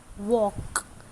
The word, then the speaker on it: walk: So some words are given walk. So what is silent? Yes, L is silent.